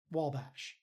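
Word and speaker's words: Wabash: but would like us to know that it's pronounced Wallbash.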